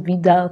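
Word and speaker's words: Widal: out says that we still it is actually pronounced vidal test german but that why that is we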